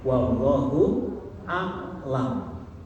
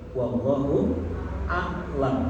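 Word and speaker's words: والله أعلم: Yang benar ya bacanya ya, wallahu a'lam, bukan wallahu alam, bukan. A'lam. Maksudnya apa? Allah yang lebih tahu. Kalau ibu bacanya wallahu alam, Allah yang sakit. Awas nanti salah baca. Ada ain, pakai ain. Wallahu a'lam, alif ain lam.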